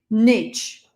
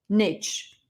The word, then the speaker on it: niche: We're talking about specific niche niche or niche. Niche is British, niche is American.